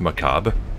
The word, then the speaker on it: macabre: caprara ma complaints no isn't it just macabre like there re is the end doesn't it is macabre and macabre they're the same word you can pronounce it either way okay holy water earn